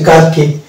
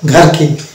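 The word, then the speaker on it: gherkin: গোস্ট, ঘোস্ট না, আমরা অনেক সময় ঘোস্ট বলি, এটা হচ্ছে ভুল উচ্চারণ, তো এটা হচ্ছে গোস্ট, এবং এটা হচ্ছে গার্কিন, নট ঘারকিন, ইট ইজ এ গার্কিন।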